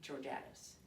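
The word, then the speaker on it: Georgatos: e o r g a t o s pronounced debbie giordatus as america can we talk and she's a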